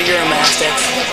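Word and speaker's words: Uromastyx: Oh, those are Euromastiffs. Their name is spelled really weird. It's like U-R-O-A-S-T-X. It's U-R-O-M-A-Y-S-T-X, something like that.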